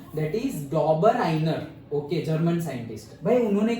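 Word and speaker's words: Döbereiner: एंड 1829 में the German scientist Dabur इसका pronunciation ध्यान से सुन लो, डॉबर आइनर, क्या डॉबर आइनर। ओके, डॉबर और आई जब प्रोनाउंस करे तो थोड़ा एच भी आ जाता है, हाँ, डॉबर हाइनर, ऐसे हाइनर, आइनर ही है बट से समवॉट एच, डॉबर हाइनर।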